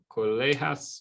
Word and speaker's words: colegas: Los colegas me informan que no hay trabajo el viernes. So informan, the verb, los, is it colegas or colegas? Colegas, hard G.